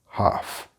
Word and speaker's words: half: And the singular, which has the very strong F sound, half.